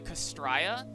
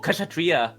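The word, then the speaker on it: Kshatriya: Yeah, I can't remember the name, how to pronounce it, but the Castraya. Oh, Kashatria. Kasatria.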